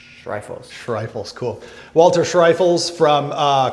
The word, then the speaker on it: Schreifels: Like a rifles, but Shrifles. Shriles. Shrifles.